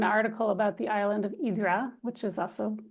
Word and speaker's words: Hydra: about the island of idra which is also it looks like Hydra when you see it written out but it's pronounced idra um and it's it's